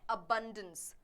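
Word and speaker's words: abundance: soil Erode होता है हमारा अगला वर्ड है आबंदों इसको प्रोनाउंस करते हैं एबंडेंस नाउन है इसका मतलब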